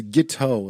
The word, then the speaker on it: Guiteau: Oh, it's French. It's Guiteau is what it is.